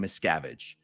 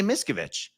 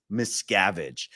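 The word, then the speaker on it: Miscavige: it for someone to properly pronounce the last name miscavage they always say misovich they always say miskovich this guy's watched enough Scientology content to know it's miscavage he's watched enough Scientology content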